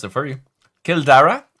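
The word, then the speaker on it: Cill Dara: Kildara is the Irish for Kildair. Kildara. So like Dra. Kildara in Mandela Park, my friend.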